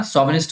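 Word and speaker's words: chauvinist: और mail शोविनिस्ट का मतलब, देखिए इसका प्रोनाउंसिएशन ध्यान रखना, शोविनिस्ट होगा।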